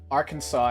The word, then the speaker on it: Arkansas: I'm American, I don't know why it's Arkansas and not Arkansas. I mean, we literally just... The explanation was right there. It was it's a French pronunciation. French. Shout out to the French. Shout out... Shout out to the French. It's a French pronunciation of a word in the Sioux language.